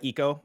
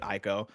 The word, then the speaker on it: Ico: go to is uh eco which for the longest time i like i always went back and forth between you at eco and i go uh i probably started off by calling it ico um and that was